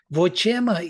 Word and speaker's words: vochema: Vochema, you see, Padapatha separates words. So vochema, the stress is on che, and ma is, you see, it is svarita, vo is anudatta, and che is udatta.